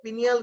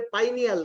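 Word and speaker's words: pineal: আসলে আমরা সচরাচর পিনিয়াল গ্ল্যান্ড বললেও এটার উচ্চারণ হবে পাইনিয়াল গ্ল্যান্ড। কারণ হচ্ছে এই গাছের এই গ্ল্যান্ডটা দেখতে পাইন গাছের কোণের মতো দেখায়, পাইন গাছের যে ফল তার মতো দেখায়।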